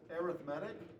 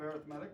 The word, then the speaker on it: arithmetic: The first one, and it looks like this is, it's spelled arithmetic, but it's pronounced arithmetic when we're talking about sequences, okay?